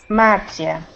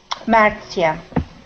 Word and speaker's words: Maria: so uh uh Maria how do you say your name in Portuguese Maia okay how was it one more time Maia okay so is that a hard r or is that the